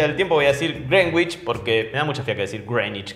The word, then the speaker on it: Greenwich: que dicen vamos a agarrar el meridiano de grenwich se pronuncia así aunque yo la mayoría del tiempo voy a decir greenwich porque me da muchas ya que circulan y